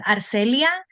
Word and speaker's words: Arcelia: people say my so my full name is not my name's Arcelia so when I came